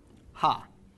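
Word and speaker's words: הַ: Okay, the prefix that is used to indicate the definite article is the letter he, specifically a he with a patach vowel, which is pronounced ha.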